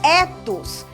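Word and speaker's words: ἦθος: partida a segunda palavra se escreve Ethos mas esse e é longo e tem um significado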